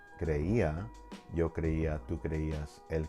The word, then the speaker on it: creía: So if you have a word like creía, yo creía, tú creías, él creía, you would place an accent on the I because that's where you have the stronger stress.